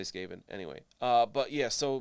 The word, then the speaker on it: Skaven: in his way uh which i think he pronounces it scaven he says say it like scavenger but like it's still skaven if you say sk scavenger sk i don't know i'm gonna say skaven anyway uh but yeah